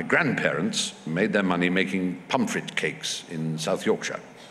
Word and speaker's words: Pontefract: And and my grandparents made their money making Pontefract cakes in South Yorkshire. They say Pontefract, but yes, pronounced Pumfret. Right, okay. Pumfret cakes.